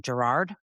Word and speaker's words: Gerard: I've got Curtis, I'm going to always say your last name wrong, Gerard. I wait, I did it right.